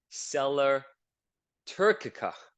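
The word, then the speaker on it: sella turcica: shape um Groove at the top called the Sellar Tura that's how you pronounce it trust me I checked it on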